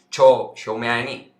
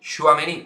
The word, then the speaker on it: Tchouaméni: es el interés del Real Madrid por Aureli Tchouaméni.